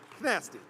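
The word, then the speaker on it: Kytasty: And Nasty, by the way, is spelled K-Y-T-A-S-T-Y, Nasty.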